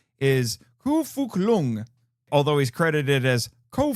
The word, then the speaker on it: Ko Fuk Lung: And just so you know, it's Ko Fuk Lung. And just so you know, his middle name is spelled F-U-K, and his last name is spelled L-U-N-G, like the internal organ in English.